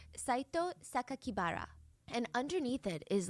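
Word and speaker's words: 酒鬼薔薇: The press read the kanji, so like the Japanese characters for Saito Sakakibara, and instead of pronouncing the way that he intended, the killer intended, because the kanji could mean other words, they stated to the public that the killer's name was Saito Onibara, which would be a more common surname.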